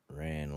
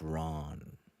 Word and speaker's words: Ran: Also, pronunciation of nickname is Ran, as in Genghis Khan. It's Ran, as in Genghis Khan. Okay. So many times I've been called Ran like the actual word. So it's Ron.